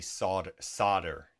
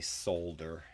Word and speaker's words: solder: Okay, so we have, I'm trying not to say solder, S-O, because it's not spelled S-O-D-D-E-R. I know that's how Americans say it.